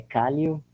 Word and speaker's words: Kállyo: A pronúncia está correta sim, Vilma. É Cálio. Meu nome é Cálio.